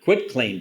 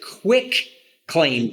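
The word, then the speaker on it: quitclaim: cover him on a quit claim deed and so and and too many people pronounce it quick claim I know I know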